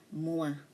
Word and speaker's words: moi: Okay, you use moi. Remember, OI is pronounced as oua, not oi. So this one is moi, je suis Frédéric, et toi?